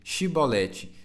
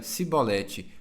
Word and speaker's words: chibolete: o homem negasse eles o mandavam dizer chibolete se ele era da família de Efraim dizia sibolete pois o povo de Efraim não consegue pronunciar essa palavra corretamente então eles o capturavam